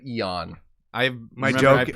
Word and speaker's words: Eaon: So, how did Ian get started? Not Ian, but Eon.